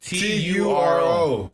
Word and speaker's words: Turo: Turo. Oh, Turo. Yeah, Turo. Churro, way. I thought it was an A4. My mom was I thought it was. I'm like, churro? What's churro? Now I said Turo.